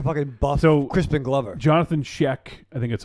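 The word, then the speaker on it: Schaech: Jonathan Sheck, I think that's how you say it. Sheck, yes.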